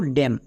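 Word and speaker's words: damn: এম এর পরে যদি এন থাকে তাহলে এন সাইলেন্ট থাকবে। এম কিন্তু না। যেমন একটা এক্সাম্পল দেখো ড্যাম।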